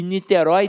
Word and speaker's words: Niterói: Niterói. E Niterói tem acento. Por quê? Porque é uma oxítona. Então tem um ditongo aberto na oxítona.